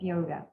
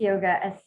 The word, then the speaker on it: yoga: Patanjali defines yoga as this, chapter 1, verse 2, yoga, chitta, vritti, nirodha. Okay? Or if you're from the north, you don't pronounce the last letter, so it's yog, chit, vritti, nirodha.